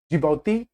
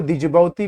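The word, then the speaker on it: Djibouti: ए जिबौती, देखो दिजबौती भी बोल सकते हो, कोई फर्क नहीं पड़ता बोलने से, एग्जाम निकलना चाहिए। आजकल लोग देख रहे हैं प्रोनाउंसिएशन पे बहुत ज्यादा करते हैं, अरे इनका ये है, पर से कोई फर्क नहीं पड़ता भाई, आप जैसा मर्जी वैसा एग्जाम निकलना चाहिए। तो जिबौती बोलो, दिजबौती बोलो, कुछ कोई फर्क नहीं पड़ता, स्पेलिंग याद रखना बस।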